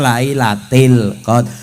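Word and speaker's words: ليلةِ القدر: Karena "fi" berada di depan, Anda menggunakan kasra: "lailatil qadr."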